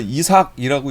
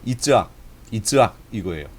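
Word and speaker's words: יצחק: 그러면 이게 히브리어에서 이삭이라고 얘기할까요? 아니에요. 히브리어는 이삭이 아니고 이츠학이에요. 이츠학 이거예요. 그럼 이츠학이라고 우리가 발음을 해야 좋은 점이 있어요.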